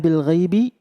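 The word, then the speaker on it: بِالْغَيْبِ: Kemudian yu'minuna bil ghaibi nah ketika bil itu di atas alif yang nempel dengan ba itu ada kepala shad kecil juga itu juga termasuk hamzah washal yang tidak terbaca ketika dibaca washal atau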